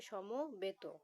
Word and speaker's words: সমবেদক: সমবেদ এটার ঠিক উচ্চারণ হবে সমবেদক।